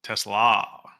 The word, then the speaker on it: Tesla: It is T E S L A. Oh, Tesla. Okay. It's It's pronounced Tesla, though.